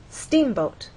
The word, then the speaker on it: steamboat: In steamboat, you will either look in a dictionary and see that the first syllable is stressed, or hear people speak and they'll say steamboat.